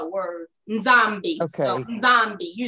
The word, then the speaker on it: Nzambi: So Nzambi, you're saying it. But it's Nzambi. It's almost like you're swallowing.